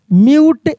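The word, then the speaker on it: mute: जैसे क्यूट सी यू टी क्यूट म्यूट एम यू टी ई म्यूट duet D यू टी E duet ये सभी देख रहे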